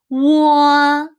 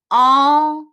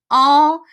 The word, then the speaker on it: o: Actually, when I was in elementary school, every teacher teach this one as 我. But in around 2009, the Chinese Education Bureau had a reform, and they say that this one should be pronounced as all.